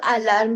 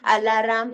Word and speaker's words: alarm: खूप सारे जण ह्याला म्हणतात अलाराम. How many of you pronounced it as a alarm? It is not alarm. Ram. It is not alarm. It is called as alarm. Alarm. R आणि यम एकत्र. Alarm. असं ट्राय करा.